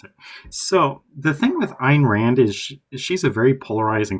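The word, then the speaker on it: Ayn Rand: Next is Ein Rand. Not Anne Rand.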